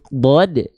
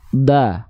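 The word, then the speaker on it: ض: tapi dia dibacanya SH huruf Dod ketika kita baca dia berharakat fathah dia enggak dibaca da enggak tapi do nah keluarnya terdengar seperti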